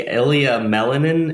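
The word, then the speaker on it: Ilia Malinin: I think Ilya Melinin is how you pronounce his name, the ice figure skater.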